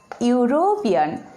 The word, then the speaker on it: European: Here you see European. The word starts with the letter E, and E is also vowel, you know. But look at the pronunciation here. E is hidden. Again, pronunciation U is like European.